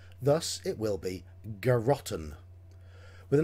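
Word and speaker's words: Garrotten: called garotton now mr lakovka gives us the pronunciation garotan but it's spelt g a double r o double t e n thus it will be geroton with a name like that you can imagine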